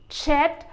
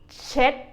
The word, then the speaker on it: เช็ด: เช็ด the second syllable is like when you say check in English, but you change the K sound into a D sound. Again, for the second syllable, เช็ด เช็ด The last syllable,